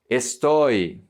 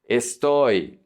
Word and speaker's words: estoy: If the Y is at the end of the word, it's pronounced like a vowel. So this is soy. Soy, I am, from the verb ser. Estoy. Estoy, I am, from the verb estar.